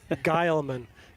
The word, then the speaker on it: Guileman: Emerson's last name, Mike, is pronounced. We're going to get this by the time the game's over. Guileman. Guileman. Rhymes with Nile.